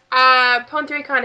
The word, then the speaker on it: Pon3Con: Pon3Con is how I say it. I've heard other people say it differently, like PonyCon and stuff.